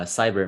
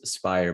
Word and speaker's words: SBYIR: spire actually is we heard it called uh cyber many many times uh the proper pronunciation is spire but we're not sticklers about that uh so